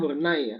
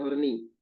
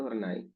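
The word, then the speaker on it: Horney: Erikson Yung Adler sama inii bacanya hornai ya bacanya Ya bukan horni bacanya itu hornai oke nah anafroid Ini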